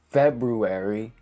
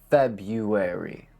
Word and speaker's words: February: Don't be tricked by the first R. It is not pronounced. So don't say February, say February. Think of it as if it was written without that first R.